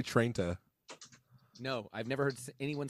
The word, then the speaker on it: Trenta: Trenta. Trenti. It's not Trenta. It ends with an A. Okay, but nobody says Trenta. No one says Trenti. What do people say, Aaron? Say Trenta.